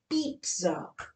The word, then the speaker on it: pizza: Is it pizza or is it pizza? Now, sad to say, it's pizza. So whoever's been saying pizza till now, better change.